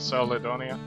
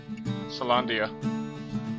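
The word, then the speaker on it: Caelondia: Ask about the seal representing the city of Celadonia. Salandia. The city of Salandia, that's how you say it.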